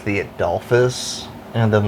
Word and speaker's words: Adolphus: Like but you just gotta look at how it's spelled. The Adolf Hitler Hotel. Adolphus, like that.